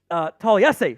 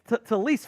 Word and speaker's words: Taliesin: So all of the pronunciation guides say Fuaga. Taliesin Fuaga. Yeah, Taliesin. And then at a Senior Bowl interview, he's like, no, it's Talise Fuanga.